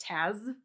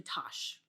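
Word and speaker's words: Tasz: makes you feel any better, my last name is spelled T-A-S-Z, perennially pronounced Taz. It is actually Tosh, like an S-H.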